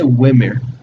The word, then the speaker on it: Ymir: I always say Wimir. I've heard the Y pronounced as a Y and as an I.